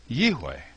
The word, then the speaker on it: YIHWEH: So, in my opinion, the pronunciation of the name Yod He Vav He is YIHWEH.